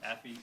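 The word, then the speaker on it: AAFE: Asian Americans for Equality, the acronym for which is pronounced AFI, represented by Chris Coy and Ernesto Vigoro.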